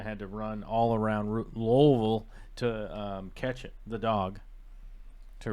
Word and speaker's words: Louisville: me a hard time because I was saying Louisville. And they're like, "That's not how you say it. You say Louisville." Louisville. Like, you gotta have a lot of something in your mouth.